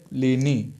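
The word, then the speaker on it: Pliny: तोले मी ठीक है उसके बाद आते हैं लेनी ठीक है लेनी के स्पेलिंग बता देता हूं पी एल आई एन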